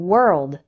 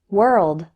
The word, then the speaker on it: world: word work worse and world the letter o in these words isn't pronounced like o instead w-o-r sounds like were let's practice word work worse world error number 167 the